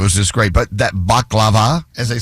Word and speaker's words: baklava: But that baklava, as they say. Oh, yeah. It's not baklava, it's baklava. You got to say it right.